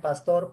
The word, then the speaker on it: pastor: Y acá en pastor, ¿cuál será la sílaba tónica? Tor, profe. Correcto, porque es pastor.